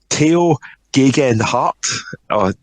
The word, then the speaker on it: Tao Geoghegan Hart: Now, it was won by Tao Geoghegan Hart. Is that correct? Did I manage to pronounce that properly?